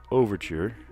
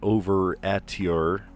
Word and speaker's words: overture: It's not over-at-ure. It's overture.